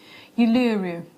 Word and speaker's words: Uluru: Uluru.